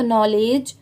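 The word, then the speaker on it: knowledge: यहां पर भी देखिए मैंने आपको नो में बताया था कि के साइलेंट है तो यहां पर भी नो ही पढ़ा जा रहा है और एल ई डी जी ई लेज होता है।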